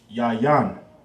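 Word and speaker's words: יין: It'll be pronounced yayan. Ya. Yan. Boom.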